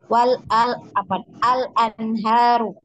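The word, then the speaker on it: الأنهار: kalau waqaf ya yang ini tadinya kalau kita wasolkan ini dibacanya 2 harokat hanya ya al anharu ya 2 harokat tapi kalau kita waqafkan boleh 2 boleh 4 boleh 6 ya 6 ya.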